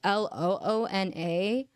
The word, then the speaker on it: LOONA: This is spelled with 2 O's, so it's Loona.